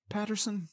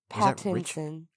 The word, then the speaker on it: Pattinson: Patterson? Robert Pattinson? No, Robert Patterson's the author, isn't he? Pattinson. Anyway. I think it's how you say it.